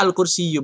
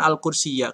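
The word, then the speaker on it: الكرسي: Ini dibacanya al-kursiyu, bukan al-kursiyah. Kenapa? Karena ini ada titik berhenti ya.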